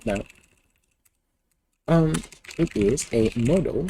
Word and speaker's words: modal: Model? No. Modal. Yeah. Like that. Okay. Modal. There we go. So modal based. I forgot how that one was spelled. Editor. Modal based editor.